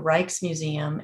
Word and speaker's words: Rijksmuseum: And there's also a museum called the Rijksmuseum in Amsterdam that has a fantastic website. It's spelled RJIKS, which is an odd spelling, but RJIKS Museum.